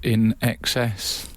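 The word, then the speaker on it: INXS: idiotic Eureka moment who knew in EXs is pronounced in EXs I've seen it written a million times and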